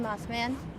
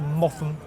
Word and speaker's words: Mothman: Lovely to meet you, Mothman. Please, tell me a bit about yourself. It's pronounced Motham, actually.